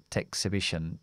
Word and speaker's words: exhibition: to an Art an exhibition exibition todo lo que termina en t o n siempre es así más la más la n y vamos a acentuar siempre aquí la palabra sea exhibition exhibition To Come